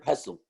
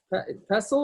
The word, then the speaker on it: pestle: you bang this water you pronounce that T you don't pronounce that T it's a mortar and pestle pestle or pestle no I think we pronounce the T yeah I don't